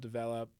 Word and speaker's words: DVLP: Denver now, again, called Develop. And the whole premise of that, it's spelled DVLP, is to develop yourself through creative means.